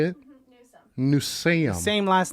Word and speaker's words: Newsome: difficult to say how do you say it nusein same last name as kaelyn because sometimes that's